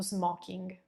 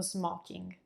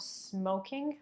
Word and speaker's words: smoking: La terza parola del giorno, another made-up word, is lo smoking. Lo smoking. Notice how I'm pronouncing that O. It's not smoking, but it's opened up a bit.